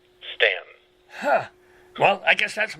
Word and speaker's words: Staunton: in Virginia sta you and t om is pronounced Stan huh well I guess that's my fault or